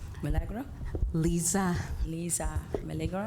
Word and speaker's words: Lisa: Lisa, and it does look like Liza, but it is pronounced Lisa Milagro.